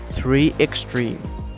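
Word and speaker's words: 3Xtrim: In English, the company name is pronounced 3Extreme.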